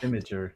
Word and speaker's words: Imgur: Imager, yes.